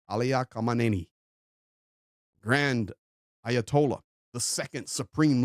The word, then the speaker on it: Khamenei: I know we say Ali Khamenei, but that's not how you say it. You say Ali Khamenei.